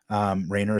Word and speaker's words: Rainer: Rayner is spelled Rainer.